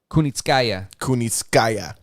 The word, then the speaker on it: Kunitskaya: How do you pronounce this lady's last name? Kunitskaya.